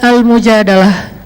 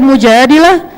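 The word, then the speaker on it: المجادلة: curhat kalau al-mujadalah curhat Jadi tergantung kita bacanya Dilah atau darah kalau kita baca Mujadilah nanti perempuan yang lagi curhat curhat kalau kita baca almujahadah berarti curhat itu sendiri surat al-mujadalah berkisah tentang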